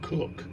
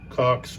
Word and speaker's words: Cox: It's not Cook, but Cox Brigade down here with.